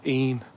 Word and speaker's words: Eyam: little wand through the village of I um it's pronounced e but I call it I uh but like I